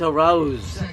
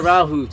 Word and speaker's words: Arauz: It's Arauz. It's not Arauz.